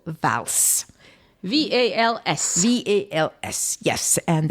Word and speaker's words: Vals: an underground church called vals v-a-l-s-v-a-l-s yes and as it is occitan we pronounce the s at the end and there we are